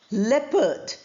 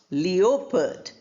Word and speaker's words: leopard: Then we have leopard not leopard. O sound is not there. O is written but it is not pronounced.